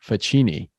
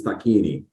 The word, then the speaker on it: Facchini: without further Ado I want to introduce Mike faccini Mike did I say your name wrong it's perfect well in America it's the in in the uh Old Country it's takini yeah usually uh we we asked to confirm